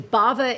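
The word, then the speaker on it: Bhava: Baba Beauty and wellness b-h-a-v-a I had to spell it because Bava is an intriguing word now let's find out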